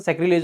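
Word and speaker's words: sacrilege: तो सैक्रिलेज, बाकी इसको सैक्रिलेग करके अगर याद रखोगे तो जल्दी याद हो जाएगा, वैसे इसका प्रोनाउंसिएशन सैक्रिलेज होता है, बाकी सैक्री यानी कि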